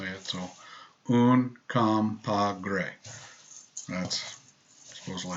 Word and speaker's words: Uncompahgre: We've made 2 new blends, Medano Creek and Uncompahgre. Again, we chose easy to say things because it kind of fits the profile. And I just like to watch other people struggle to say it. So Uncompahgre.